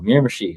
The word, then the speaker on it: Miramichi: You're like, how'd you pronounce it again before we started? Better make sure with the local Miramichi.